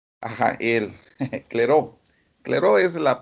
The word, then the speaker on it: Clairaut: fue el nombre de este otro personaje, de Clear Ricat out. ajá, él, Clairaut. Clairaut es la pronunciación.